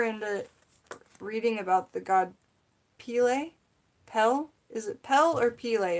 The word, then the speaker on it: Pele: Pronounced Pele. Thank you, Michelle Knoll. I appreciate that. Pele.